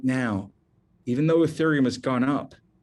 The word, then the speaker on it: Ethereum: spell that for you e-t-h-e-r-e-u-m it's pronounced ethereum if you only buy